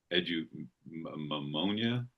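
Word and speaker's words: eudaimonia: I think it's called uh edu mimonia. Uh it's spelled e u d a i m o n i a.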